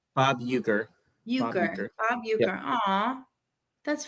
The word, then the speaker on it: Uecker: Euchre.